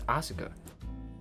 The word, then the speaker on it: Asuka: The U kind of is pronounced, but it's very subtle. It, like, Asuka.